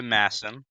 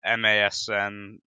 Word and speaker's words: MASN: day by tuning into Masson uh that's I know it's masn whatever it's you said it right yeah and watching that